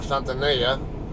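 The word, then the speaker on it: Santa Nella: It's up between, it's about halfway between Kettleman City and Santanella. Or Santanella, if you pronounce it the Spanish way. I always call it Santanella, though.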